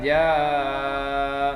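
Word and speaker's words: جَا: Idza ja. Nah, ketika ja itu ada tanda panjang lagi. Ini tanda panjang, ini dibaca 5 harokat ya. Panjangnya 5 harokat, ja-nya dibaca agak dilamakan lagi daripada idza. Kalau idza cuman 2 harokat.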